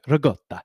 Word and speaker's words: ricotta: Listen, I say I say ricotta. Okay, everybody. I know some people say raota. I'm not going to do Italian pronunciations in here because I'm not Italian and I'm just not going to butcher it because I'm going to feel really bad if I do that. Okay?